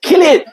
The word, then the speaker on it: Cillian: It's Killian.